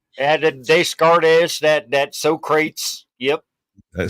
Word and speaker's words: Descartes: but he's the Eternal was it discar no no no it's uh you did not pronounced that Descartes you did not I know you didn't I'm from the south I've only ever seen Des gardes that that Socrates yep